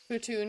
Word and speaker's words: poutine: Putoon is how you say it for sure.